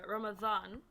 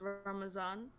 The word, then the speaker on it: Ramadan: so we have Ramadan. So there's a letter in the alphabet like a dha. Oh, You pronounce okay.